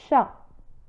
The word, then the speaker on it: chat: un chat بدون نطق لا لتر ت في آخر كلمة شا. un chat.